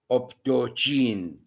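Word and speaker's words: optochin: We have this reaction, bacitracin, optokine sensitivity test, bacitracin disc also, sensitivity test, optokine. Some people pronounce it as optogene and bile solubility.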